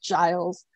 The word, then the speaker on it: Giles: rupert why rupert rupert giles oh yes giles it's pronounced giles um y'all i'm a